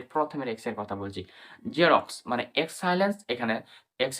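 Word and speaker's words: Xerox: শব্দের শুরুতে এক্স থাকলে আমরা এক্স বলি না। শুধু জ সাউন্ড উচ্চারণ হয়। মানে জেড এর মতন সাউন্ড উচ্চারণ হয়। মানে এক্স সাইনিন্স এর মতোই হয়। যেমন ফর এক্সাম্পল দেখি আমরা এক্স ই আর ও এক্স জেরক্স।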